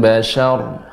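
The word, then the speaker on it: البشر: Lil syanya tetap tipis, ya ra-nya yang tebal. Lawahatul lil bashar.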